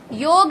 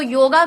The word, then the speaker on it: योग: आप इसी बात से पकड़ लीजिए कि किसको कितनी योग की नॉलेज है। अगर कोई व्यक्ति योग न कह के योगा कहता है तो इसी बात से आप समझ जाइए उसको योग का कुछ नहीं पता।